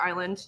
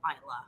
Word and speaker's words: Islay: packing to our secret island you might go to isla so um it is pronounced isla uh which we did mention briefly before i-s-l-a-y isla yeah and then uh it